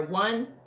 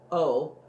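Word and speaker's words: Oh: Now, I might have spoke his name, but it's his last name is spelled like O, it's O-H, so that's why I called it O, okay?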